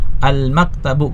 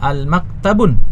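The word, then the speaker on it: الْمَكْتَبُ: Almaktabu. Kita lihat ada alif lamnya. Sehingga kita tahu bahwa ini tidak boleh kita baca almaktabun ya.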